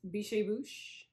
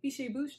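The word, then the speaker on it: Biches & Bûches: from scotland beautiful it's bichebouche and i only know how to say this because of aro knits and pearls she's always saying fishy bouche not like biche bouche i'm like that's how you say it i didn't realize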